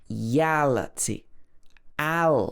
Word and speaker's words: reality: Also, words that end in T or a T are normally stressed on the part before the T or the a T. For example, reality. Reality. This part of the word is stressed.